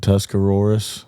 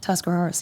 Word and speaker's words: Tuscarawas: Yeah, I think it's What is it? Tuscaroras? Tuscarawas. Yep, Tuscarawas County.